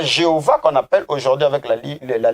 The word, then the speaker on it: Jéhovah: pas pourquoi parce que la lettre G que l'on retrouve dans la transcription de Jéhovah correspond à la lettre iode dans l'alphabet hébraïque et donc cette lettre se prononce comme y des yeux en français donc la lettre J a été créée récemment et le se retrouve pas dans le phonétisme hébraïque Nico Jéhovah c'est une